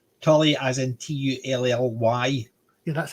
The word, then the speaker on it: Tully: a slightly different spelling but it's the same pronunciation Tully as in t-u-l-l-y yeah that's how hard but